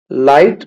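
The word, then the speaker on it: light: लाइट, लाइट में जी silent है।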